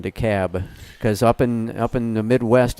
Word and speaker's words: DeKalb: Took me the longest time to forget about the L in DeKalb, because up in the Midwest it's DeKalb.